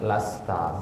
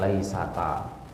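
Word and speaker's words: لستَ: Berarti laisa ditambah anta jadinya lasta, bukan laisata. Ya, karena ta itu setelahnya harus sukun. Ya, kan jadi sukun ketemu sukun, iya-nya dibuang, jadinya lasta.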